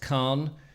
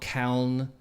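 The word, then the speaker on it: Calne: in khan i believe it's uh it's spelt c-a-l-n-e but i believe now that it's pronounced khan not kaln or kalni or whatever rubbish that i've managed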